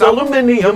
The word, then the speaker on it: aluminium: gonna wake you up how do you pronounce this stupid word aluminium might think it's aluminum i really think so